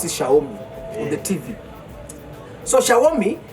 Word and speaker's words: Xiaomi: And then of course in China you know how do you pronounce that word Xiaomi on the TV they pronounce it Shaomi on the TV.